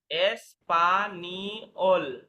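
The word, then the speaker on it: espagnol: আচ্ছা জি, জি এর একটা নিয়ম নোট আকারে দিয়েছিলাম আপনাদের ক্লাসে, জি এন ইকুয়াল নি, জি এন এর উচ্চারণ নি হয়, নি। এসপানিওল, এসপানিওল। জি এন থাকলে নি হয়।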